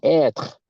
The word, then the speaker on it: être: Être. You pronounce it être.